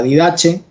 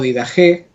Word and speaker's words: Didaché: escrito que se llama la didaché o didajé o la doctrina de los apóstoles según si se ha transmitido al español si es la trata de mencionar más cómo se escribe en griego o si se lo traduce directamente al español este escrito hay diversidad